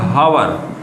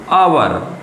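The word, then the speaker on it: hour: ले लिया अवर अब इस शब्द को बच्चे पढ़ते हैं हवा लेकिन हवा नहीं एक्चुअली में ये होता है अवर और जब अवर है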